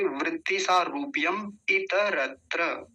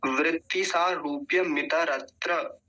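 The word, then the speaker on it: वृत्ति सारूप्यम् इतरत्र: अच्छे से कंठस्थ करेंगे शुद्ध रूप में, अशुद्ध उच्चारण नहीं होना चाहिए। तो क्या है, वृत्ति सारूप्य, या ऐसे कहेंगे वृत्ति सारूप्यम इतरत्र। अगर एक साथ बोलेंगे तो कैसे बोलेंगे, देखिए पहले ध्यान से, वृत्ति सारूप्यम इतरत्र, वृत्ति सारूप्यम इतरत्र ऐसा बोलेंगे।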